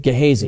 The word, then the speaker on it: Gehazi: I always mispronounce it. Gehazi.